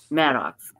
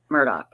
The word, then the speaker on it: Murdaugh: Maddox, I don't know how they pronounce it. Murdaugh. Thank you.